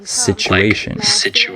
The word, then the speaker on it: situation: Also, certain letter combinations, like the TU, can be pronounced chu sometimes, like situation, and DU can be with a j sound, like graduate. Okay?